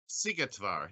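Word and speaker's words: Szigetvár: Sigetvar. How do you expect a radio host to say that, Michael? It again. Sigetvar? Sigetvar, yes.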